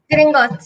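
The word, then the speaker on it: Gringotts: philosopher stone was stolen from uh from the green gos am I am I pronouncing it correct Swani green gos yes yes the green gos bank and it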